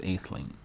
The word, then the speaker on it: Atheling: Let's see how it's pronounced. Ethel. It's Atheling.